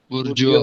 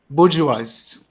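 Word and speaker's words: bourgeoisie: बुर्जवाज, बुर्जवाज इसकी प्रोनाउंसिएशन होती है, बुर्जवाज। उसमें वा इस चीज के लिए प्रोनाउंस होता है, बुर्जवाज। ईओ नहीं होता, बुर्जियोज नहीं होता, वो हम अपने कंफर्ट के लिए बोल लेते हैं।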